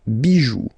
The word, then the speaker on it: bijoux: Pluriel, des bijoux, okay? Then, un caillou, plural, des cailloux. Okay, remember, you don't pronounce it, the final X.